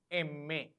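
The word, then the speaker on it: eme: M is pronounced as Emme.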